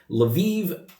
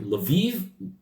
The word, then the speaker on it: Lviv: the force in the foreseeable future to Helsinki l'viv live Kaku says Cocteau said Gajic l'viv it's Lviv Luby's Botha I didn't know where